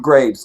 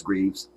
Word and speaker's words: Greaves: kind words uh steuart Graves good to see you this evening brother Greaves I've been saying your name wrong forever it's Greaves uh the killing of